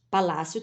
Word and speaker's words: Palácio: esquerda tá agora nós vamos analisar Palácio ó Palácio tem acento Então tá fácil mas vamos dividir lá para lá ncio ó uma sílaba só Palácio tem acento no lá tá fácil agora para